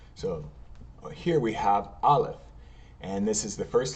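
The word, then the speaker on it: Alef: In Hebrew, we know that this is going to be ah by the dash right here, or the T.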